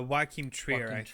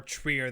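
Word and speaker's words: Joachim Trier: mentioned how do we how do you pronounce the um director's name uh why keem trier okay um it thinks more trier than trying to get treated yeah trier i think that sounds about sounds about right yeah we're getting we're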